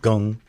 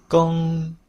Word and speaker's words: 庚: with the macron across the top would be pronounced as a sound, or gong, gong. And let's listen to that again. Gong, gong.